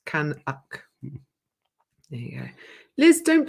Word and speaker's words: Canuck: Canuck is how you pronounce it. Canuck.